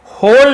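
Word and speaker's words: whole: money पैसों के लिए यह होल है डब्लू सेलेंट होता है केवल होल पढ़ेंगे ऐसे लिखते समय लिखेंगे डब्लू को लेकिन पढ़ते समय यह साइलेंट लेटर होता है उसने पूछा क्या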